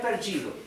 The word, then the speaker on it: perdido: Ter perdido. Recuerden aquí entonces la D con la I. No se pronuncia di, se pronuncia G.